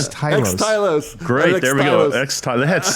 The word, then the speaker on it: Xtylos: What's the correct pronunciation? Xtylos.